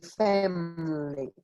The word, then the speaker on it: family: ejemplo Emily o family, vamos a omitir el sonido de la I, ¿vale? Esa I vamos a comérnosla y quedamos en family, ¿ok? Family.